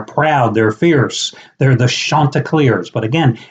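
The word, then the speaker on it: Chanticleer: nickname and how do you pronounce it well it's spelled c h a n t i c l e e r and it's Shanta CLE Shanta CLE Shanta CLE not Shanta CLE Shanta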